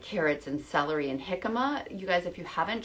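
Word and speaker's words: jicama: there's dipping vegetables like carrots and celery and hikma you guys if you haven't tried hikma yet um it's spelled j i c a m a and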